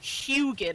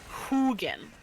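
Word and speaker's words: Huginn: his name because the way I had been pronouncing it was hugin like Huey for Houston and he's like no it's Hogan like like who who are you who again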